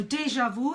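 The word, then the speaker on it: déjà vu: a French word so deja vu it's already been seen it's a deja vu moment now in French the French is deja view but in English we say deja vu deja vu oh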